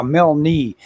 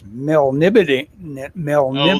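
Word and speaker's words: Melniboné: see Mel know how did I used to pronounce male knee oh yeah Mel knee yeah in n-e-e Mel knee bow boney she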